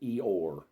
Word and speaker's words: Io: named now they spelled it IO but they pronounced it eor there are a few of his attributes names